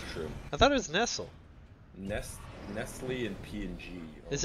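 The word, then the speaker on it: Nestlé: not LED isn't it I thought it was Nestle Nestle if you're in like France I hate it I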